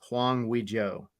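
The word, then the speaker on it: Hwang Ui-jo: being that uh Korean international plan for Olympiacos Huang Wei Joe uh that's how you say it yes okay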